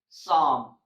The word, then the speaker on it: Psalm: is P in English all the words that starts with P s have a silent P like Psalm Salter psychology psychic psychotic